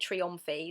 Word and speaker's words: Trionfi: and gambling games like Trionfi. I can never remember how to say it, Trionfi, there we go.